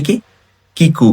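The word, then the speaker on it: 聞く: তো এটা হচ্ছে কি কিকু বা কিকির কাঞ্জি।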